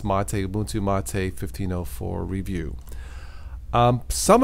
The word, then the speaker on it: MATE: video I did Ubuntu mate yes it is pronounced mateu mate 1504 review um some of you understandably